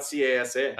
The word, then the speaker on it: CASA: ben tell us about casa uh yeah thank you so uh first of all it's casa like nasa okay sorry i i